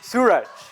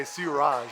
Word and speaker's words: Sooraj: do you pronounce it my name is pronounced Sur Sur so a lot of people say surj right everyone says SJ surj but it's Sur there we go see